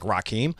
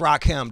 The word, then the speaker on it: Rakim: They're like, yeah, I like Rakim. Like, no, dude, it's Rock-M, dog.